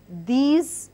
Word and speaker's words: these: The word these is again pronounced with the Z sound.